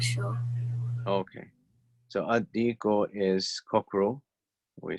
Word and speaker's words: الديك: Right, so we just said that on this side, we're going to drop the lam when we're pronouncing it. So how do you want to try again? الديك. Ad-dayku.